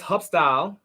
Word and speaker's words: Hub-Style: So if they want to know more about this Hubstyle, did I say it right?